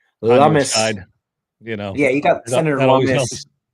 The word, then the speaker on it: Lummis: When you've got the great senator whose last name rhymes with hummus. Lummis.